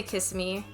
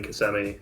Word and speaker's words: Kissimmee: how to say it i say kiss me so so did we until we got corrected by the people in kissimmee there was this bar